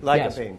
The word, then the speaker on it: lycopene: Lycopene, yes. Also in your book. Obviously, I've read the book, but not pronounced.